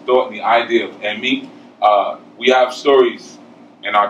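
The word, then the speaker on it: emi: In Yoruba, E's are pronounced like E, like you would say for egg. It's E. Okay. And I's are pronounced like E, like in eat. All right. So, E-mi is spelled E-M-I, E-mi.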